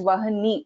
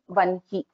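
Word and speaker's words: वह्नि: our gurus is that it is pronounced as Brahma and Vanhi, not as Brahma and Vahani.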